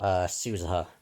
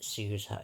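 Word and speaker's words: Suzuha: Suzaha. That's how you pronounce it. Suzaha.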